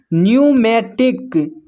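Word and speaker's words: pneumatic: फिर नेक्स्ट देखिए यहाँ पर पी एन, यहाँ पर भी पी एन भी अगर एक साथ रहे तो पी साइलेंट होता है। तो इसको पढ़ते हैं न्यूमोनिया, न्यूमोनिया। फिर है न्यूमेटिक, न्यूमेटिक।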